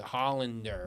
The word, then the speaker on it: Hollander: It's just the pronunciation of your name. It was kind of tricky, but Hollander, right? Yes.